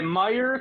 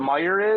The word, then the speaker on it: Meijer: And don't they spell it with like a J? Yeah. Yeah, because it's his last name, and I'm pretty sure it's French. Meijer.